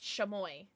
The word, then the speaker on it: Chamoy: Chamoy.